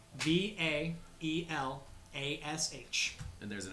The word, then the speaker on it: Vaelosh: I need to definitely spell that. Vaelosh. ASH, and there's actually an accent mark over the A. Vaelash.